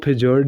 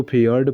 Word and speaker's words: fjord: रही हमारे फेयर्ड की इसको फि जर्ड नहीं पढ़ते हैं इसको फेयर्ड पढ़ते हैं क्योंकि इसमें जे साइलेंट होता है यह वाई आई के आवाज निकालता है देखिए क्या होता होता